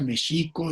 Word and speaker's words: México: pues no sepamos ni que México se pronuncia Mexico y que digamos Atlixco y digamos Tlaxcala y Texcoco.